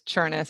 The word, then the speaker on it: Chernis: Yeah, well, so you just asked me how to pronounce my last name, and it was Chernis, and I said rhymes with furnace.